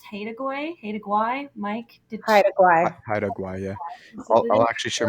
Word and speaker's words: Haida Gwaii: I believe it's pronounced Haida Mike, did Hi, Guai. Haida Gwaii, yeah.